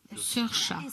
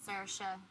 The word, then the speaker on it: Saoirse: Je pense que, en ce qui concerne le français, pour une prononciation à la française, Saoirse, c'est pas mal, c'est bien. In Ireland, we En Irlande, on dirait Saoirse, Saoirse, Saoirse, Saoirse, but you guys can say Saoirse.